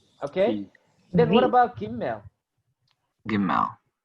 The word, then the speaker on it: Gimel: Gimel. It's a Same. GH. Same. Gimel. And the Gimel with the dagesh lene will be pronounced G.